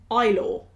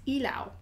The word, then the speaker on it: Ilaw: who helped me in the comments with the pronunciation of this one cuz I said ilw i l a w but apparently it's Ela is how it's pronounced which sounds so much